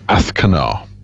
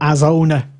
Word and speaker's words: Azcona: Athkanar. Yeah, that. So the Z becomes TH if you're going to pronounce it.